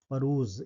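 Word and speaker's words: peruse: अगला important word क्या हो जाएगा भाई, अगला इंपॉर्टेंट वर्ड हो जाएगा परूज, ठीक है। ये वर्ड हो जाएगा परूज, परूज, इसका सही प्रोनाउंसिएशन क्या हो जाएगा, परूज।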